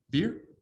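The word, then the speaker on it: bier: touched the buyer beer does anybody know how to say this word b-i-e-r beer okay it's always good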